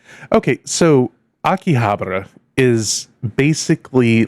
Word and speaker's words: Akihabara: Approximately 6.2 mi northnortheast in Akihabara. So, that is not the way I would have pronounced that before I heard someone say it. I thought it was a Akihabara, right?